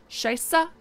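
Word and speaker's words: Scheiße: wrong but shapes adjust feels good to say scheisse is apparently how it's pronounced No okay well we've got two babies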